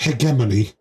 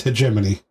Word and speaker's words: hegemony: St Cameron they General is just like hegemony this how you pronounce it it's a g h there we go a very stupid way of pronouncing that but that's apparently British uh let's see what American says American is hegemony all right so hegemony